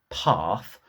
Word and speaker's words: path: did now you'll notice I use the London pronunciation of the bird path to make it rhyme with the word apart as a Mancunian I